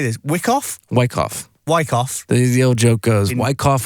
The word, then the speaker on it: Wyckoff: Wyckoff.